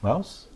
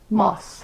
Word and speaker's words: Maus: Mouse? Moss.